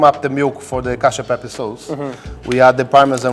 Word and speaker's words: cacio pepe: Cacio peppe. Cacio peppe.